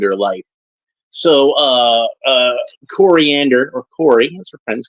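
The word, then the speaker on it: Koriand'r: file real name coriander it's spelled with an apostrophe but you don't you don't say corander like just coriander that's fine uh as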